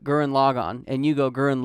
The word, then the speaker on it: Gurren Lagann: sub right yeah okay because the way you pronounce gurren lagann you pronounce like log on but the way they say it in the in the dubbed is gurren lagann gurren lagann there's a difference logan not logan but gurren logon and you go girl